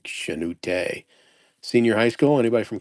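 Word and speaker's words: Chanute: Is it Shenoot or Canoot? I think it's Shenoot. Probably Shenute.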